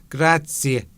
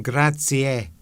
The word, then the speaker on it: grazie: I've heard some people go grazie and then grazie. So I don't know which is which, but which is correct. Maybe it's regional.